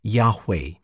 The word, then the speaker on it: Yahweh: anglicized form jehovah though most scholars today think that the name should be pronounced yahweh this is the name